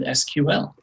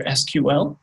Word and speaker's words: SQL: For anybody trying to make sure they pronounce this correctly, it's either SQL is an acronym or SQL. I don't ever think I've heard it SQL. Maybe, who knows? But SQL or SQL.